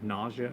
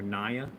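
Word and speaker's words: Naja: is in the family nausea or nia, depends how you want to pronounce it. We typically rule of thumb that we go by is that if it's of Asian descent, we say nia. If it's of African descent, we say nausea.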